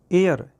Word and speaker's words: heir: और नेक्स्ट है एयर, HEIR, एयर। Guys ये एयर है, इसका मीन्स बारिश होता है, यानी संपत्ति का आगे बनने वाला बारिश, तो ये एच साइलेंट है।